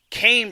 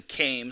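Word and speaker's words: Chaim: side consisted of theobrunner came shulk not shame shulk it's actually came so my bad on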